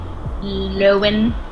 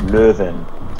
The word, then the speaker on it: Lowen: Yeah, that's the anglicized way, which is how I say it. What is the non-anglicized way? The original, the OG German way is Löwen, which means lion.